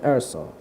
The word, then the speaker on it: Erso: Jyn, her name, Jyn Erso. Jyn, like Jyn, and Erso, well, you mention Ors, and you have to include a silent E at the end. So you change the vocals and you have Erso.